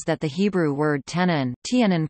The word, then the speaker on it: תנין: Some creationist organizations propose that the Hebrew word tanin, tanin pronounced tan-nin, mentioned nearly 30 times in the Old Testament, should be considered a synonym.